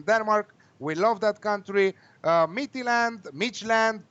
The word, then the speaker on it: Midtjylland: Midtjylland, however you want to pronounce it. I like to say it Midtjylland, but some of the people are saying Midtjylland against the Rangers.